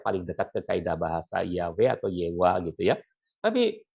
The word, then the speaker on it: Yahweh: itu memberi kesaksian bahwa nama itu dipronounce, dilafal Yahweh. Ini dari The Modern Judaica Encyclopedia volume 7 page 679 ya.